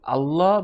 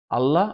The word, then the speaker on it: আল্লাহ: বাকি সকল জায়গায় আল্লাহ আল্লাহ, মুখ রাউন্ড হয়ে আল্লাহ হেভি সাউন্ডে বা ফুল মাউথ, আপনি যেই শব্দই ইউজ করেন আপনি আপনার মতো বুঝে নেবেন।